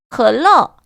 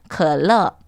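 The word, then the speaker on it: 可乐: 컬러, 발음을 들으면 딱 이게 뭐 어떤 건지 연상이 될 수 있고요. 그리고 그 한자가 가지고 있는 뜻도 너무 좋다고 말씀을 드렸습니다. 마시면 마실수록 즐겁다. 읽어보실게요. 컬러.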